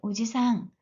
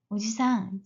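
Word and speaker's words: おじさん: 하셔야 됩니다 오바상 오바상 마찬가지로 삼촌 숙부 외 숙부를 발음할 때도 오지상 오지상 짧게 하셔야 됩니다 영어는 상대적으로 쉽습니다 남의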